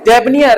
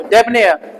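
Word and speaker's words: debonair: नेक दिल, अनुग्रह, कैसा इंसान है, डेबनियर है वो तो, डेबनेयर, नियर नहीं, डेबनेयर, डेबनेयर, ने डेबनेयर, ठीक है।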